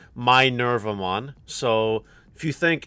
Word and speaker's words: Minervamon: safes as well also chat's telling me that's pronounced my nerve I'm on so if you think